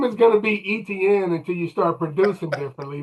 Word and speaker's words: Etienne: Travis Etienne E- E- Etienne He he says it's pronounced Etienne. Travis Etienne.